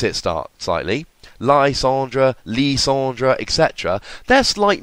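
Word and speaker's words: Lysandre: That's why it's not Lysander. Lysander would be ER. It's just reading the word, it's not what it says. Plus, be a bit respectful to French. I don't expect your pronunciation of Lysandra to be perfect, and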